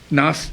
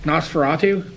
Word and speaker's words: Nosferatu: you're going to have to pronounce it Nas Nosferatu oh NOS feratu yeah a Gothic tale